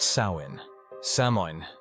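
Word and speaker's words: Samhain: years to the Celtic Festival of Sam Hoin pronounced sa samin held on the night of October 31st signaled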